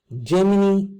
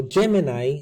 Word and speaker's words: Gemini: of this article says germany or gemini as properly pronounced partners with colombia's biggest